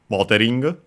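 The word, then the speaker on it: モデリング: But yeah, after that we have modeling. Modeling from English we check its accent as usual. Let's see. Let's see. Yeah. Okay. Luckily, accent on the first syllable just like English.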